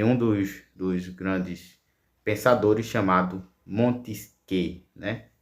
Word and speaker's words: Montesquieu: dos grandes pensadores chamado Montesquieu, né? Escreve Montesquieu, mas se pronuncia Montesquieu.